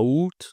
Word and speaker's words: août: C'est le mois le plus facile à prononcer de l'année. Oû ce n'est pas à août.